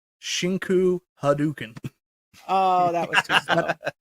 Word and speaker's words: Shinku Hadouken: Shinko Hadouken. That's not really how it's said. So you can pronounce it properly for me. Can you wait before you do that, Mike? Yeah. Mike B, please just say it one more time for us. Shinku Hadouken.